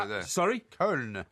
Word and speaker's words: Köln: Köln, as they call it there. It's spelled Koln, isn't it? With an umlaut over the O. Well, in this country, it's called Cologne.